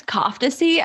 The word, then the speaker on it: Kofteci: want to butcher it it's cofy I mean it's technically C but in but my parents um just like converted it to cofy for Americans so that's what it